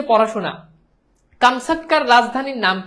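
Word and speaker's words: Камчатка: প্রকৃত উচ্চারণ কামসাটকা, ঠিক আছে?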